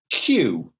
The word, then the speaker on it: queue: next one aisle aisle third one cue cue like the letter ABCD cue you so this time